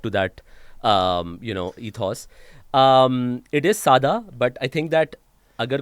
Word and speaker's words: Sada: So the Sai pronunciation is Sada, Okay.